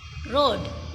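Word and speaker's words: read: Right का हो जाएगा रोड, रीड का हो जाएगा रेड। अच्छा, इसको पढ़ते रेड हैं लेकिन इसकी स्पेलिंग सेम रहती है।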